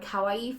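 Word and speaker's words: かわいい: For example, you must know the word kawaii for cute.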